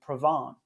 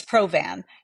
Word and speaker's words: Provan: a very French way saying provon is it proven what is what is it really it's provan uh I wish it was provon it's uh it's very American uh but most people